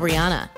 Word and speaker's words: Rihanna: want to know what Rihanna has in common with the Kardashians keep watching to find out here are 10 facts you may not know about Rihanna you're probably pronouncing her name wrong anyway Rihanna but did